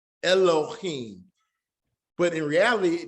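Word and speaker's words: אֱלֹהִים: But in reality, there's a kataf sagal in the front. And it says, as in this word, can somebody pronounce this word for me? What is this word pronounced? Excuse. Excuse, right? X. So it's not that heavy like we're saying in Elohim. Excuse. So actually we could be more like Elohim. So it's telling you to shorten the sound.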